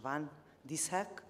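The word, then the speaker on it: van Dishoeck: Please help me, Professor Fawkins, about the pronunciation. Van Dishoek.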